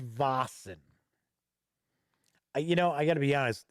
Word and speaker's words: Vaesen: I heard Vaesen, so kind of with a V sound, right? I've heard Wassen with a W sound.